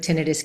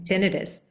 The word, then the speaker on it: tinnitus: Well, actually, it's kind of a tomato - tomahto situation, Okay.